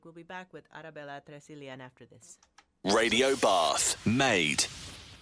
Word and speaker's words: Tresilian: are still with arabella tracillion i have been pronouncing your name like it was a spanish name but apparently not it's cornish my surname is cornish but i please i